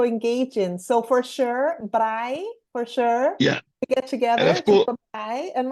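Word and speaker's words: braai: day that we call Bri day word Bri how do you WR spell it b b b r a i wait wait b r a i i yeah as in Bri wow that's it that's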